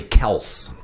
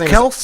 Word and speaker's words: Kelce: It's actually Kels. What? We've been mispronouncing Travis Kelce's name too. That's Really? all I'm saying. Yeah, yeah. His name is Kels? It's Kels.